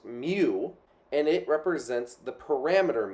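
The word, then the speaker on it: μ: know which is which this first symbol is pronounced mu and it represents the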